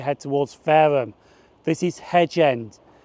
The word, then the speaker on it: Hedge End: This is Hedge End. And yes, at Eastleigh it did say Henge End, and that is mispronounced.